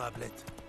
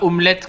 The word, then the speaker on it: Ablette: C'est bien, Ablette. Tagda, tagda, tagda, allez. Et pas omelette, comme dirait je sais plus qui.